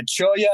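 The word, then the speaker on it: cholla: that's spelled c-h-o-l-l-a so it has a uh spanish pronunciation of the of the double l but yeah cholia is most it is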